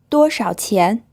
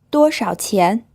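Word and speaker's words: 多少钱: It's pronounced with a first tone, then a third tone, then a second tone. 多少钱强壮 This means strong.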